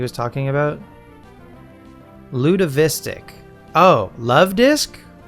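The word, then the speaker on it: Luvdisc: had a friend in middle school who uh pronounced it Lud Ludavistic. And it took me forever to figure out what Pokemon he was talking about. Ludavistic. Oh, Love Disc.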